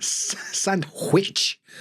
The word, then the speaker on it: sandwich: Because some people will drop the D in sandwich. Sandwich. It'd be like an M. Sandwich. But sandwich, you will hear some people say sandwiches. But I don't. Sandwich. It's like a M sound in the middle.